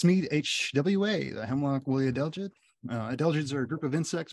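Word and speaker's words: adelgids: lot harder to pronounce an easy way to remember it might be think of a singer Adele there she is now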